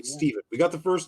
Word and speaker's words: Steven: not one of those is it stefan or is it stephen right we're not not you know no definitely stephen we got the first